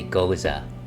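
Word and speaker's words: Gose: is a is a goza goza uh it's it's like hey ALS isn't that pronounced like goose are are you talking about a goose uh no I am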